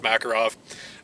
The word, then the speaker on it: Makarov: I don't care how you guys pronounce it, Makarov or Makarov, it really doesn't matter. In America, it's pronounced Makarov.